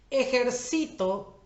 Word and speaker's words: ejercito: Ejercito es una palabra grave o llana porque su sílaba tónica o la que está cargada con acento es la penúltima.